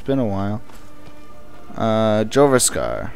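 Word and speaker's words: Jorrvaskr: been a while uh jasar or yasar as they pronounce it that is where you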